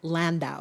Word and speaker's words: Landau: about award-winning Soviet scientists Lev Landau so Dow is the last syllable of his last name he ended up shall